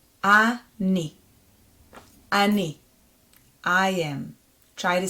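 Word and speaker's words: אני: Then the second letter is the nun, our new letter, with e vowel, with a green vowel. So that's going to be ni. Ani.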